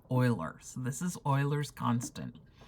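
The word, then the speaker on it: Euler: but I've been told that it is correctly pronounced or at least as close as I can get as something like Oilers so this is Oilers constant and the first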